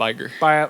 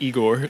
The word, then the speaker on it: Iger: But something that was cool, I think Igar, is that his name? Yeah, Bob Iger. Yeah, that's right. I couldn't say his name. Not Igor.